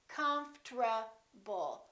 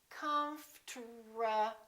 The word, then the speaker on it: comfortable: that happens, and that's the RT becomes a TR. They change positions. Listen. Comfortable. Comfortable. Comfortable. I'm very comfortable. Most Americans pronounce it like that.